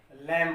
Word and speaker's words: lamb: तो इसको हम लैम पढ़ेंगे।